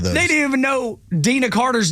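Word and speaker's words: Deana Carter: They didn't even know Dina Carter's name. They mispronounced it. They're like, who's Deanna Carter? Who's Deanna Carter? It's Dina, man.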